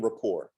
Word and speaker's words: rapport: a great networker um first thing is building rapport uh which i hate that works i used